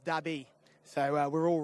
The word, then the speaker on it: Derby: onto that front running conveyor belt are you Derby deby or something else uh spoken to the actual Saudi Nationals here it's pronounced dabby so we're all wrong there so dabby is